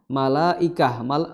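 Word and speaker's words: ملائكة: Ya, jadi illa malaikah, ya, malaikah. Ya, maka di sini mad wajib apapun toriknya, ya, di Hafsan Asim, maka dibacanya harus 4 atau 5, ya.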